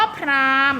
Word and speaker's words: พราหมณ์: ที่ ไม่ ออก เสียง คำ ว่า พราหมณ์ นะ คะ หอ หีบ นะ คะ ที่ ไม่ ได้ ออก เสียง มา แล้ว มา ดู